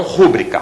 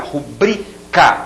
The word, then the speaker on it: rubrica: batô esse si necropsia rubrica e não rúbrica rubrica outra palavra paroxítona e algumas palavras proparoxítonas